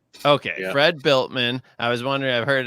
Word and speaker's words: Bueltmann: You say Bueltmann, like you built a house. Okay, yeah. Fred Bueltmann.